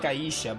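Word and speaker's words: Aishe: Aisha. They say it kind of like Aisha, but your name is spelled like it's Aish.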